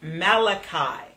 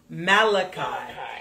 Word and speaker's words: Malachi: the last book of the Old Testament is pronounced Malachi Malachi yeah there you go Malachi Malachi I have